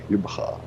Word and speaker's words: Jubbega: I live near a town called Jubbegaar. How do you spell that? J Very carefully. U double B E G A. Jubbegaar. Jubbegaar. Yep. Oh, you said it just right, actually. He can't spell it though.